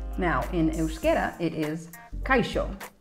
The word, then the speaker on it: kaixo: I think that's how they would pronounce it. It's H-O-L-A anyway. In Catalan, very similar, hola. Now, in Euskera, it is kaixo, right?